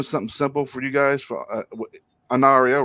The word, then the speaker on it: Anaria: off by doing something simple for you guys anaria right am I pronouncing that right finally got it finally well